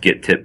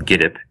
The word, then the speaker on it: Gittip: I thought it was pronounced GitTip, but I recently discovered it's pronounced Gitip.